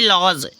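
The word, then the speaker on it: lodge: ईर्ष्या करना ठीक है तो नेक्स्ट है लो डीजीई लॉज नेक्स्ट क्या है देखो यहां पर लॉज में डी साइलेंट हो गया है लॉज लॉज किसे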